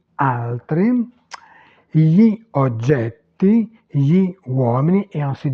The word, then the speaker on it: gli: Mais attention, ce n'est pas la prononciation naturelle de l'italien. Alors, je vous montre avec un seul exemple la transcription phonologique pour vous montrer en fait que le I dans la prononciation disparaît. On dit gli altri, on ne prononce pas le I.